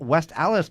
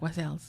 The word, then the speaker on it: West Allis: Public Library talking about, Holly says I says West Allis wrong. I don't know. I'm a Southern boy, so. You say it like you're supposed to say it. Like I say it real fast, like West Allis.